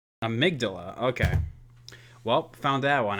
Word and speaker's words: amygdala: digress just real quick huh how do we pronounce that see here just so I don't look like an absolute bollard here amygdala amygdala okay well found that one out of your